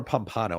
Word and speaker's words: Pompano: Beach do you get is it Pompano or Pompano I always forget that Pompano okay I said